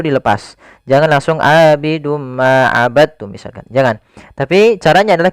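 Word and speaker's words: عبدتم: Hati-hati jangan dibaca abadtum ya, tapi langsung dimasukkan ke ta. Abadtum, bukan abadtum. Ya, meskipun dal termasuk huruf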